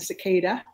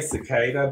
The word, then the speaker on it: cicada: So we say cicada, but I hear people pronounce it cicada. We actually called cicadas locusts in South Georgia, which is not correct. So cicada, I think, is the right way.